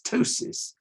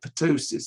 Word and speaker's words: ptosis: familiar to this audience well i pronounce this ptosis but you might call it potosis or something like that i don't know it's paralysis